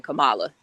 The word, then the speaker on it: Kamala: They interviewed her grandmother, and the grandmother said it's pronounced Camilla. Well, I heard Kamala say Kamala, so that's why I pronounce it that way.